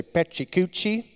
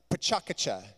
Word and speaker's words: PechaKucha: believe that it's pronounced pachakacha which sounds if you say it a few times it sounds like a train rolling let's say everyone together